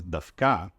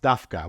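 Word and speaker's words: דווקא: the standard pronunciation is dka with stress on the last syllable it's often pronounced dka wh the stress on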